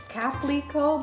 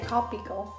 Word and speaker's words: Caplico: It's Caplico, but some people say Copico.